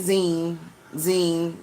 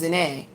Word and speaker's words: Zahnae: They kept saying zine, which is like the word gene. G is in Gary, ENE. They kept saying zine, and it's not, it's ZAHNAE.